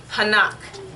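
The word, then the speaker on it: חנך: The word here is a Hebrew word, and it's hanak. Hanak. So it's going to be, and I'll spell it for you in English too.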